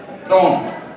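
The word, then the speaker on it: tomb: टॉम, यानी देखो टी ओ एम बी, मकबरा होता है ना, तो इसमें हम बी साइलेंट पढ़ते हैं, टॉम।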